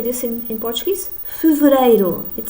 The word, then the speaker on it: Fevereiro: Fevereiro.